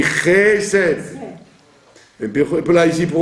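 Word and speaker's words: חֶסֶד: Chased, on dit Chesed.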